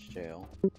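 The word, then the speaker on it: Gaol: you pronounce it yeah it's jail he was saying it g or something I can't remember he said it wrong anyway I was like I'm pretty sure that's not how you say it anyway um he said that when you ENT yeah so long story short it's the old word for jail um Old English word so that that's where it comes from yeah I learned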